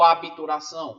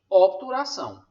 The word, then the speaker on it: obturação: dizer obturação né o abituração serviço ninguém deveria falar advogado ou advogado né na oralidade tudo bem a gente acaba falando mesmo só que você tem que falar advogado e obturação e quando isso acontece